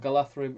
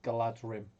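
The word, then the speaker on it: Galadhrim: plus on foot um josh then says and galatherum is the correct pronunciation the dh becomes a soft th sound in tokens elvish everyone usually says galadrim uh gil gil glad rim daniel moss hi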